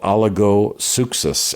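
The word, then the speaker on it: oligopsychos: was not robust in battle, was often called oligosuchos.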